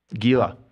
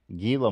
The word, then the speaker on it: Gila: what are those called but big ass lizard Gila Gila monster I like it better with The Silent